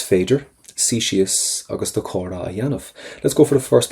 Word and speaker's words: a dhéanamh: Do chóra a dhéanamh. Do chóra a dhéanamh. Now first thing is, let's get your pronunciation done right. That has to get a Y sound.